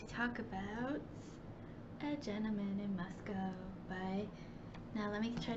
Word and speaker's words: Moscow: my idaho came out we have a town that i used to live in in idaho called moscow which is spelled exactly the same as moscow but they don't want to be thought of as russia so they say moscow signed out that was